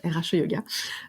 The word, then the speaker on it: RH Yoga: j'ai envie de dire comme ça s'écrit comme ça se prononce, RH Yoga.